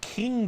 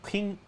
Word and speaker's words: Qing: The Qing, it's not Qing, it's Qing dynasty, but it sounds different.